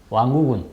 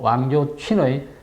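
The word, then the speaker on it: 王友群: 오늘은 중국 인민대학 법학박사 출신으로 중국 공산당 중앙정치국 상무위원 웨이젠싱의 비서 출신인 왕우군, 그러니까 중국 발음으로 왕조춘의 칼럼을 위주로 방송을 진행하려고 합니다.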